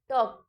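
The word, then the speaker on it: talk: मतलब होता है कुछ टॉक टी ए एल के टॉक टॉक में एल साइलेंट है एल का कोई साउंड नहीं आता है तो जिन वर्ड्स में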